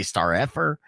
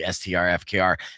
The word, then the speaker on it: STRFKR: spelling it out so I would say star effort uh but you know it was kind of my brand to mispronounce names all the time anyways so um you know my audience forgave me once they figured out it's actually strfkr and what's cool about